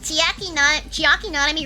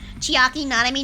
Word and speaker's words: Chiaki Nanami: Chiaki Nanami rhymes with chicken jockey.